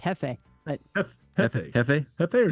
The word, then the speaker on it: Jefe: Espanol pronunciation would be Jefe.